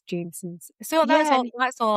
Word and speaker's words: Jameson's: I was drinking some Jimsons. Is that how you say it? Or Jameson's. I think I would have said Timsons. I have a tendency to say Jimsons, but I think it's Jameson's.